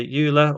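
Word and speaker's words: Euler: So let's type the player dot transform dot oiler angles. So E U L E R. And I know that word's pronounced differently by different people. They say Ula, Oiler. It doesn't really matter.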